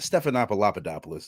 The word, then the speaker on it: Stephanopoulos: Stephanopoulos is the correct pronunciation.